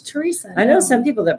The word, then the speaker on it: Teresa: Do you pronounce the H? Teresa.